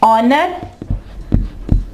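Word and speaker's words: honour: ऑनर, यहां पे एच जो है आवाज नहीं देगा, ठीक है।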